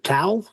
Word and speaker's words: tau: Tau particle?